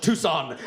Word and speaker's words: Tucson: And I say it's actually pronounced Tucson.